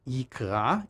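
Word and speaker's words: יקרא: In terms of the standard pronunciation, it's yikra in the singular, like in our verse, versus yikreu in the plural.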